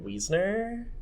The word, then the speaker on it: Wiesner: But I believe that you pronounce his name David Wiesner.